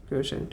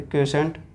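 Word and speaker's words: quotient: इसे बोलेंगे डिविडेंड, इसे बोलेंगे क्वोशेंट, QUIOT, क्वोशेंट। इस स्पेलिंग पे नहीं जाएंगे, क्वोशेंट।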